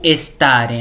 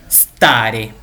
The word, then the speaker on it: stare: com um S, então a gente vai querer colocar um E na frente ou uma letra I, ficar stare ou estare, né? Mas não, a gente tem que começar a pronúncia do S, então stare.